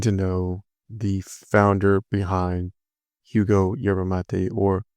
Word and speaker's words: Hugo: I had the pleasure of getting to know the founder behind Hugo Yerba Mate, or Hugo Yerba Mate, because the H is silent in Spanish, but it's spelled Hugo.